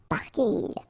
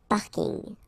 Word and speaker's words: parking: parking as well so I know it's coming from English but still you should pronounce it the French way parking parking okay and the last